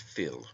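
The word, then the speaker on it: fil: is taken from the Irish word Phil fi l pronounced Phil meaning blood it also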